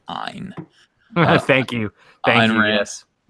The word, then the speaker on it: Ayn: It's pronounced Ayn.